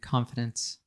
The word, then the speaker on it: confidence: I love the nuance in pronunciation because we have confidant and also confidence, right? So the vowel there in the middle is really... There's a small difference there in pronunciation, but it's different.